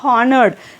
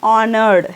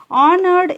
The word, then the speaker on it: honored: you should not say honored you should say honored H is silent honored is verb is honored